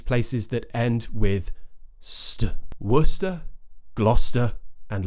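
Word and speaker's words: Gloucester: some of these places that end with wor gluster and Lester so the reason I'm talking about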